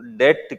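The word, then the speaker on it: debt: जो भागीदारी नहीं देती है वो पूंजी का एक और नाम होता है लोन या डेट कैपिटल। बी साइलेंट रहता है इसमें, डेट कैपिटल, ऋण पूंजी।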